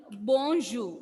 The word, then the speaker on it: bonjour: That is why when we pronounced bonjour, we didn't pronounce this sound, right? R was silent there.